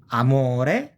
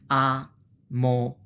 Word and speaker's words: amore: A, usually if you have a word like this one, which begins with a vowel followed by a consonant, you have the vowel by herself as a syllable, and then you have the division of the other.